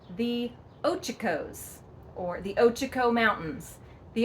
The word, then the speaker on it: Ochocos: actually, and the name of it is not Ochoko or Okoko, which I actually heard on the internet as a pronunciation, but it is called the Ochocos, or the Ochoko Mountains, the Ochocos.